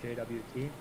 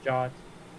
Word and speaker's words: JWT: ever hear it said aloud I always said JWT but turns out the actual way of saying it is God so for people that don't know uh when Lewis is saying jot he's referring to the Json website and that's